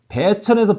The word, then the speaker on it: 배천: 배천에서 배는 흰배자인데 배라고 읽습니다.